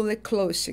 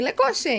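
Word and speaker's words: Le Cloche: Daí ela falava francesa, ela falou: "Ah, que tal lecloche que a pronúncia em francês certa seria essa, né?" Aí eu falei: "Ah, gostei". Leclê, então, tipo, dei uma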